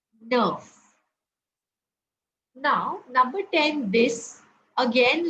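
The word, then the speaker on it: neuf: I told you that e+ U is U and hence the pronunciation is Nerf Nerf now number 10 this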